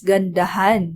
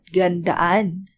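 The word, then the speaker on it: gandahan: your project nice again han was added instead of on it's ganda han not gandan remembrance or sign this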